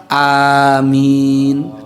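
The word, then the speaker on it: آمين: kepada agama Islam, maka kalimat yang benar dibacanya adalah amin. A-nya juga panjang, min-nya juga panjang.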